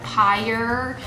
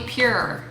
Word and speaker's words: Pyure: I'd always called it pyure. It's not intuitive that would be pure.